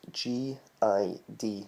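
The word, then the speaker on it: guid: Again, you'd spell it G-O-D-D if you were gonna write it, but if you think it is G-I-D, that's how you'd say it phonetically.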